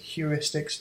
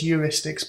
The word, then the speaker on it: heuristics: Some people pronounce it heuristics, they're wrong. It's called, the word is heuristics, problem solving.